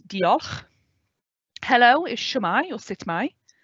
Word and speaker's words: diolch: So thank you in Welsh is diolch. So it's diolch.